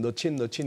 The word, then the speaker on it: Mnuchin: M은 안 읽어요? 거의 뭐 묵음처럼 처리되더라고요. 그래서 우리 예. 국내 언론에서 그냥 너친 이렇게 표현하는데 이 가운데 있는 사람입니다.